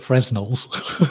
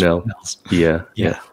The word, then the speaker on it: Fresnel: So some people call it Fresnels. Yeah, but apparently the correct pronunciation is Fresnels.